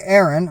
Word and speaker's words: Aharon: Yahweh spoke to Moshe saying command Aaron or aharan that's how it's actually pronounced I believe in Hebrew aharan and his son saying